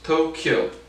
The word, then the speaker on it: Tokyo: those olympics at tokyo tokyo two syllables tokyo kyoto tokyo so again